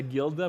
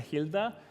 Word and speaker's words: Gilda: Um, one of my favorite um uh foods I've been going to Madrid for two years is something I was mispronouncing as a gilda, but it's a hilda, which is a skewer